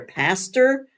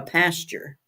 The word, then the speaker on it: pastor: they talk about their Pastor they call him a pasture my pasture said I always think your pasture your pastor p a s t o r well I'm glad you